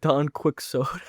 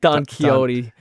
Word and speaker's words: Don Quixote: I remember I called it Don Quicksoda. Don Quixote.